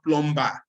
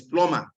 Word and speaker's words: plumber: consonant like for example it's not plumber it is pluma so check there are